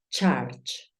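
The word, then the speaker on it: church: cómo la pronunciaría recuerda Cómo suena la u vilas Yo te he dicho que la u tiende a sonar de una forma listo lo hiciste bien charch charch es iglesia es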